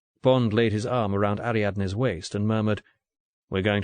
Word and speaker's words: Ariadne: you must call me ariadne if you can manage it aradne easy four pretty syllables the the original ariatne